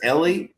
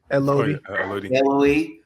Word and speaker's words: Elodie: because when I think her name is Ellie, is that how you pronounce it? Elodie. Elodie. Finally made it out.